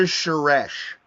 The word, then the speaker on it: Suresh: Shareth. How do you say his last name? Shareth? Raj Suresh. Suresh.